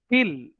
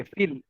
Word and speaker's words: viel: या, aber Peter arbeitet nicht viel. Viel, हा, will नाही, feel, because V is पाऊ, right?